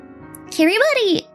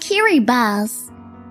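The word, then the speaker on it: Kiribati: Kiri buddy is is pronounced kiri bus. Really? Oh the t i is pronounced like okay.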